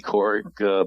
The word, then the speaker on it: Kourik: Sounds like Katie Couric, but she misspells it.